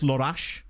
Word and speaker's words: Lorax: Or to tell you what it would be, his name would be Lorax, but football pervs would be like, I'm sorry, it's actually pronounced Lorash.